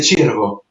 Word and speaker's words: Ciervo: Mais mon nom c'est Chirvo.